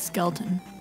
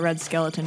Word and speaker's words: Skelton: elegant Red Skelton there's now it's Skelton yeah Red Skelton old comedy thing well if that's the thing I'm thinking of I've been telling it red skeleton my whole life I mean pronouncing it that way is probably not uncommon what are this guys